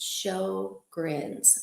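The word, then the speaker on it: Sjögren's: Okay, so with April being and by the way, it is pronounced show grins. Like show your grin.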